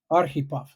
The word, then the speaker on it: Aripov: Arip. Ahov. Aripov. So accent like typical American. I put the accent on the wrong syllable.